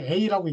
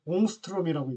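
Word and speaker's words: ångström: A에다가 위에다가 이제 동그라미를 친 요런 기호를 잘 읽거나 뭐 이렇게 읽거나 하진 않아서 읽을 그냥 A라고 읽는 분들도 계신데 옹스트롬이라고 읽습니다.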